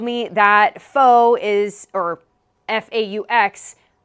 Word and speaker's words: faux: Thank you Per Hayes and Jeff Dean for helping me understand that it's not Fox louvers. They also told me that faux is, or F-A-U-X, pronounced as faux, is French for fake.